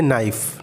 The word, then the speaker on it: knife: के साइलेंट कब होता है? जब कभी भी के बारे में एन आ जाए तो के साइलेंट हो जाता है। इसका एग्जांपल देखते हैं, जैसे नाइफ़, नाइफ़ का स्पेलिंग है KNIFE, यहाँ पे के साइलेंट है।